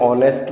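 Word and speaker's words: honest: an apple an hour H ओ यू आर आवर एन ऑनेस्ट मैन a table a बॉय ऑनेस्ट के उच्चारण जो है वो ओ से हो रहा है इसलिए एन टेबल टी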